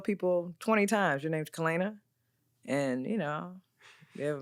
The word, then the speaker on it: Kalana: My mother named me Kalana. Kalana. That's how I say it. And that is how it's pronounced.